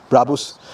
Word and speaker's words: Brabus: so number one question how do you pronounce brabus or bravo's how do you actually bravos brabus my name is